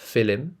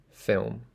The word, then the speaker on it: film: the L in film it's not filim it's film now if I wanted